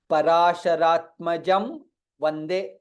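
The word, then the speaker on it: पराशरात्मजं वन्दे: Parasharatmajam Vande. Parasharatmajam Vande. Anuswara followed by Vakara.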